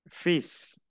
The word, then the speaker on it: fils: so feel, Fils. peace. Oui. La L no se pronuncia.